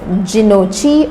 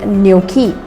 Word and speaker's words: gnocchi: on the menu of an Italian restaurant and mispronounced it as ginocchi or ginocchi, or maybe even as gnocchi. Well, that's not the correct way to pronounce it. The correct way is gnocchi.